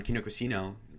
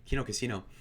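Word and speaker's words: Kino Casino: uh jaden going on kinder casino sorry i mispronounced that quino casino validates his position because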